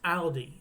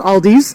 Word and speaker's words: Aldi: German words yeah that's Aldi okay but it's probably not pronounced Aldi in Germany like Aldi Ali is just Aldi there is no s at the end it's not Aldi's it's well again that